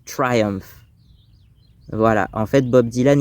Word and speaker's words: Triumph: Triumph Motorcycles, donc les motos Triumph ou en français, on va prononcer ça Triomphe souvent parce que ça se traduit littéralement par triomphe mais en anglais, on prononce Triumph.